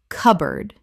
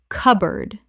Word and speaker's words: cupboard: cupboard Correct pronunciation. cupboard Two syllables in natural speech. The P is almost silent and board becomes erd.